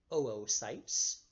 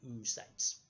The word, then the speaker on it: oocyte: You have oocytes, which is spelled O-O-C-Y-T-E, oocyte. You pronounce both O's separately. It's not oocytes.